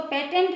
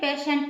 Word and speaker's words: patient: इसको पेटेंट नहीं पढ़ेंगे, पेशेंट पढ़ेंगे, क्योंकि टी के बाद IE आया हुआ है।